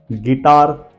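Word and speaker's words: guitar: second word is guest third one is guess गिटार and guide okay यह पांचों spelling आप ध्यान से देखिए जी के बाद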